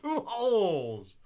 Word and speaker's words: Pujols: Last name rhymes with loopholes. Rhymes with loopholes. It's Albert Pujols.